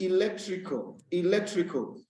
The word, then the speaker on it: electrical: And in the word electrical, you see that the second syllable is stressed.